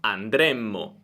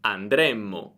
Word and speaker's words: andremmo: Andremo, andremo, futuro, andremmo, andremmo, condizionale.